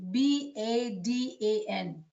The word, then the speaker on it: Badan: How can you spell that last word? Sorry. Okay. B-A-D-A-N.